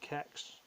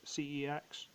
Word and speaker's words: CeX: get this I also found in the local qex for sex however it's supposed to be pronounced cex the sort of games trade in shop I